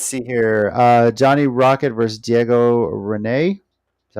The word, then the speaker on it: Diego Rene: Johnny Rocket versus Diego Rene. Is that how you pronounce it?